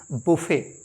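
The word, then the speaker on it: buffet: के food arrangement को हम कहते हैं बुफे ना कि बफर अगला डी यू एन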